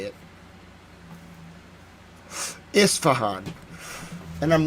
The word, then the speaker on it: Isfahan: I know I say it right. It's Isfahan. Isfahan. Isfahan. Isfahan. Someone tried to correct me, but it's Isfahan. I know how to say it. Isfahan.